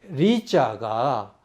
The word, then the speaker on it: 麗: 그랬을 때 평성은 리, 거성은 려로 읽는데 원래는 리, 다시 말하면 평성이다. 그런데 거성으로 읽어서 산고수려의 려자라고 일컫는 것과 같다. 이것은 뭐냐면 산은 높고 이 수는 보통 강을 얘기합니다. 숫자는. 예, 강이 아름답다라는 그런 리어자로 쓴 건데 이것은 아니다. 이것은 거성이다. 그런데 나라 이름을 때는 평성으로 이어서 리로 읽어야 되는데 이렇게 잘못 읽은 것처럼 산고 수려우니까 멋있잖아요.